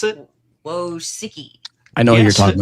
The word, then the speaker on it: Wojcicki: How do you pronounce it? Wojcicki.